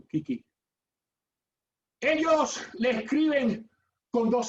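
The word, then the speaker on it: 危機: La pronuncian Kiki.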